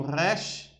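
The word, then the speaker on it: ר: Aí tem o resh, resh, resh, resh, resh.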